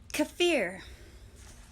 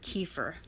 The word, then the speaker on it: kefir: Kefir. I've been pronouncing this word kefir, and now I know it's kefir.